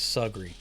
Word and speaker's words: Sugary: be invited anywhere nice they pronounced the river as sugary rhyming the first half with jug and barely giving breath to the end of the word like it hardly mattered the way folks spoke